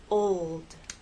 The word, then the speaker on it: old: example in the word old old the important thing here is to keep the tip of your tongue pressed against the bump behind your Upper Front Teeth old old it only